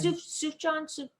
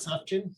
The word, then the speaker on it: Sufjan: Sufjan. Oh, Sufjan Stevens. It's not Sufjan. No, it's Wrong. Sufjan.